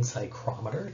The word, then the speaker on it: psychrometer: going to be how you use a sling psychrometer to measure a humidity so first off this